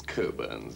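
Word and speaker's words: Cockburn's: curns not quite it's coburns actually we don't pronounce the CK Co birs so that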